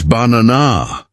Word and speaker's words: banana: For example, say the word banana. Which part is stressed? It's banana. The middle syllable is louder and longer. That stress pattern makes your speech sound natural. If you say banana or banana, it sounds strange even if the letters are correct.